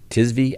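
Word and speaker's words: Tzvi: patient well i think his name is pronounced al suang t-z-v-i tis v al-swang well he survived the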